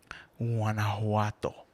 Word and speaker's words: Guanajuato: Its abbreviation is GTO, but you pronounce it Guanajuato.